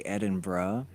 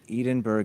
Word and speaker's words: Edinburgh: locals would say Edinburgh.